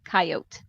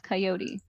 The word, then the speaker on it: coyote: coyotes no it's coyote it's a spanish word i've got a friend